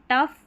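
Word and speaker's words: tough: ओ यू जी एच इसको अफ पढ़ते हैं। तो यहां पर जो ज्यादा स्पेलिंग काम में आती है। जैसे टफ इनफ रफ।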